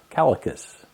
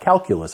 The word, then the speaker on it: Calacas: is from the holocus calicus not calculus I was told it's not pronounced that the calicus restaurant downtown